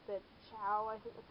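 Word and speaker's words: Ciao: other versions, like the Chow, I think that's how you say it, C-I-A-O, I think it's Chow, and then there's, like, wide versions, too.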